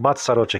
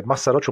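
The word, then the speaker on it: Mazarote: pode isto abrirá massarotti esse massarotti aqui no caso é massarotte massarotte mousse a pronúncia correta mas isso que tá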